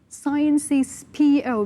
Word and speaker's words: Sciences Po: Is it Siampo, Sciences PO, or Siampo? Can you approximately, roughly, we say Sciences Po. Sciences Po. So Sciences Po, it's political science, but